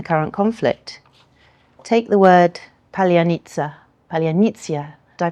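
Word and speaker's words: паляниця: identify undercover Russian agents, because it's pronounced slightly differently in the two languages.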